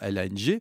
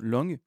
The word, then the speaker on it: long: Je le prononce, vous le savez, à l'anglaise, et je sais pas dans les commentaires chaque fois, il y en a un qui me dit: «Beh, lang». Non, long, d'accord, je sais pas, bon, bref.